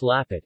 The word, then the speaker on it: Lampet: lamb fat girl a pet pronounced lappet is a typical and